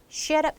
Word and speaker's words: should have: 때 이렇게 말을 하지만 실제로 이제 발음 하면은 should should have have 이렇게 들려요 그래서 이해가요 SH up shut up 이렇게 들립니다 should have I should